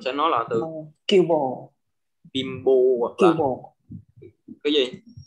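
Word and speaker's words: 貧乏: Chữ N thì nó gặp chữ bờ thì mình đọc là bimbo.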